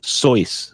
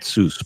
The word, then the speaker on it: Seuss: It's actually pronounced Seuss, Dr. Seuss, not Seuss, but everybody pronounces it Dr. Seuss.